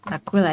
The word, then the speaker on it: Aquila: Aquila is how you say it.